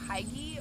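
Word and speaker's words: hygge: It's pronounced Huga.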